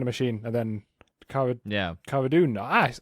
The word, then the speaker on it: Cara Dune: Cara Dune.